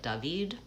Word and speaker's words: David: Hi, my name is David. I say it like David.